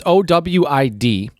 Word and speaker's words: OWID: um so there is this source called ovid is how they would say it in german it's owid um dot de and